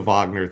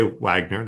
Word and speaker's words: Wagner: And so you like you don't have to do the Vagner thing. You could just say Wagner.